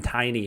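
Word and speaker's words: Tainy: tiny basically all right i don't know exactly how you pronounce it it's t-a-i-n-y it sounded like barrett was saying tiny almost like just like not taney but it didn't i mean it would sound like that but it could be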